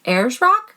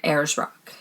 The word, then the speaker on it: Ayers Rock: couldn't get it so i think she said it's pronounced ayers rock she was really nice